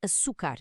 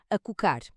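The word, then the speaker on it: açúcar: É por isso que escrevemos açucar e não a cocar.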